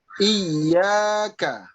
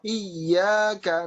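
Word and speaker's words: إِيَّاكَ: Saya membacanya misalnya iyyaka. Ketika membaca iyyaka na'budu misalnya. Kita baca di situ ada ya-nya dipanjangkan. Iyyaka misalnya. Panjang ini namanya di dalam ilmu tajwid itu mad tabi'i.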